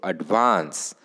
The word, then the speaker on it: advance: transcription of the word so advance the stress is on the second syllable um advance right here